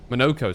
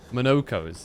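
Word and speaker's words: Monoco: Monokco. Sorry, not Monokos. This is how they're pronouncing it.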